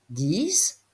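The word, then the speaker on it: dix: 10, nous l'avons vu, s'écrit avec un X, même s'il se prononce S.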